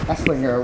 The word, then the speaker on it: Esslinger: had this whole conversation whether the G was a hard G or a soft G it's eslinger with a hard G